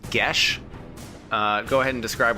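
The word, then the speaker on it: Geas: the honks so honks so it is actually pronounced GES uh go ahead and describe what GES does you mean geese uh I play a magical command on a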